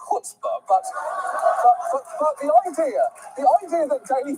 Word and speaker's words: chutzpah: First of all, chutzpah is actually pronounced chutzpah, but the idea that